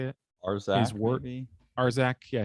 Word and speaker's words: Arzak: that were published as the Airtight Garage, and Azarak, is that how you say it? Arzak, his word maybe?